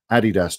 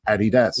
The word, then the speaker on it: Adidas: So it's Addy Dazzlet. Adidas. Yeah. That's not really up for debate. If you want to pronounce it, you can call it Adidas if you like, but it's just not right.